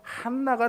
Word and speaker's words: 안나: 증언할 수가 있었던 거죠이 안나는요 히브리어로 발음하면요 한나가 됩니다 정확한 발음은 했나인데요 한나죠